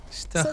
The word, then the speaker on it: station: And it's because when we have T-I-O-N combined in Swedish, then it becomes this sound.